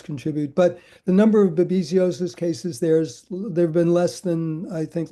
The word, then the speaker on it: babesiosis: Oh, I'm sorry, babesiosis.